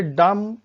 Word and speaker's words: dumb: जैसे डम, DUMB, डम, डम।